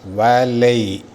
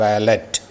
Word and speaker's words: valet: ഉച്ചാരണം ശ്രദ്ധിച്ചു കേൾക്കുക. വാലൈ, നോട്ട് വാലറ്റ്. വാലൈ. അവസാനത്തെ T സൈലൻ്റ് ആണ്.